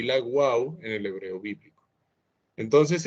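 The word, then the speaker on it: וו: hebreo moderno y la Wau en el hebreo bíblico. Entonces esto hoy en día se pronunciaría más como una V, pero en el hebreo bíblico se pronunciaba más como una W, como una Wau.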